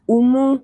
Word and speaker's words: Umu: umi it's umi actually my real name is umu but you know it's hard to pronounce i'm from senegal so